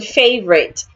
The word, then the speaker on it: favorite: Again, the letter I in favorite sounds A.